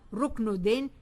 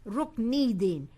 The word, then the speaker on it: Rukniddin: It's not Ruknuddin, it's Rukniddin.